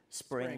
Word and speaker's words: Xspring: Xspring, this project called Spring or Xspring. It's spelled with an X, but it's called Spring, which you're trying to get developers onto it.